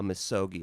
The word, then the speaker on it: misogi: I think it's misogi, like MISOGI.